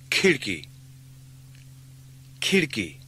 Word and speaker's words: खिड़की: The k sound at the beginning of khidki is like the English k in kitten, with plenty of air or aspiration. Khidki. Khidki.